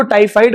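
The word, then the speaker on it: typhoid: तो वो टाइफॉइड होती है. कुछ लोग इसको टाइफाइड बोलते हैं, मैंने सुना है, मिसप्रोनाउंस करते हैं, बट मैं बता इट इज टाइफॉइड.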